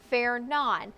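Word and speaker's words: Fernand: This is tropical storm storm fair non. I know it may not look the way it's pronounced, but it is pronounced fair.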